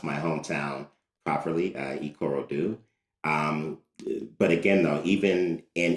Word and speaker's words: Ikorodu: So I'm happy to hear you say that I at least pronounce my hometown properly, Ikorodu.